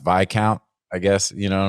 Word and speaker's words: viscount: message me but I I know it's pronounced by count I guess you know